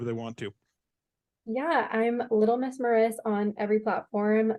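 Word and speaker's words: Little Mrs Maris: Yeah, I'm Little Miss Maris on every platform. Miss is spelled MRS.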